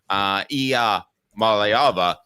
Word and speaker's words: Iamaleava: So it's a good thing we have learned how to pronounce his name, Iamaleava, because there might be another one in the fold down the road.